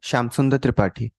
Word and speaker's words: Shamsundar Tripathi: Shamsundar Tripathi. Okay. So author kala to naada Shamsundar Tripathi.